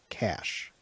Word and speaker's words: CSH: The CSH abbreviation is pronounced CASH.